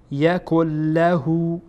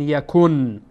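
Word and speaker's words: يكن له: فئلم یکل له یکل له، اینجا هم بعد از نون ساکن لام آمده، لام از حروف یرملونه، بناهن ادغام میکنین، میگین یکل کل یکل، نمیگین یکن، با نون تلفظ نمیکنین، میگین یکل یکل لهو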